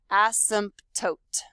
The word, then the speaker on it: asymptote: in the word and the correct way to say this word is seriously to say every single letter in this word asymptote but when you say